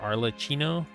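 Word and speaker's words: Arlecchino: don't know how to say her name r arlachino that's the name right yeah she runs the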